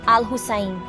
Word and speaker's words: Al-Hussain: Alou Sin, ele disse: os árabes que estavam no sul do Iraque transformam o sinal, U, em H, e é por isso que eles chamam Alou Sin de Al-Hussin, que na pronúncia de árabe será Al-Hussain.